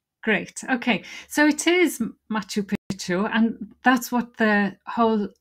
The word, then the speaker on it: Machu Picchu: So it is Machu Picchu, and that's what the whole reading is about today. Let's have a look at the title again, Keith. Yes. Machu Picchu in Peru, the lost city.